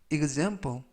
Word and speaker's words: example: 뜻이 되겠습니다 이번 표현은 example example example이라고 발음하시면 되겠고요 이때 앞부분에 있는이가 이즈 이즈 발음이납니다 품사는 명사 뜻은 예